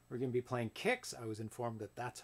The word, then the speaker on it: KIX: But it's pronounced Kicks.